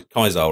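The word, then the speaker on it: Caesar: By Kai Kaisar or Cesar, depending on which pronunciation you're using that particular day.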